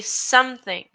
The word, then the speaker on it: something: The e in something, it doesn't have a sound, so you say something.